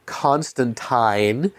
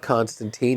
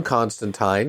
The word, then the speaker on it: Constantine: She's playing Joanna Constantine, because we've all been saying it wrong, apparently. It's not Constantine, even though Warner Brothers' own projects say it that way.